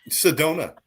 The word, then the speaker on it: Sedona: and what's the donut Sedona is a place in Arizona oh okay and it Rhymes Sedona I went to Sedona I had Mia Corona oh my gosh apparently